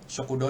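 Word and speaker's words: 食堂: Bacanya ini aja kokowa shokudo desu. Jadi u-nya tuh kayak nggak kebaca gitu sebenarnya. U-nya. Kalau kita melafalkan shokudo. Shokudo. Okay. Jadinya o-nya aja yang sedikit lebih panjang gitu. Shokudo desu, shokudo.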